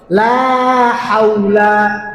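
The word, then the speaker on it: لا حول: থেকে লা হাওলা মুখটা গোল করবেন ওয়াও এবং পেশ। এই দুইটা জিনিস উচ্চারণের সময় ফোর যত গোল করবেন অত সুন্দর উচ্চারণ হবে। লা হাওলা লা হাওলা।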